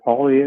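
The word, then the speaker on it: Poilievre: I haven't seen Polyev, is that how you say it, come by? Polyev, yeah, but anyway.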